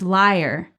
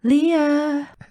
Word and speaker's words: liar: It's liar, not Leah.